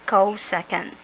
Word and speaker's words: cosecant: will be called second so although we aggravated the second lcsc we still pronounce that one as co second let's go with the